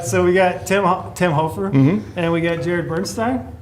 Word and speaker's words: Hoffer: Hoffer. Hoofer. Hoffer. Hoofer. Yeah. Which one do you prefer? Technically, it's Hoofer, but it's spelled to look like Ho.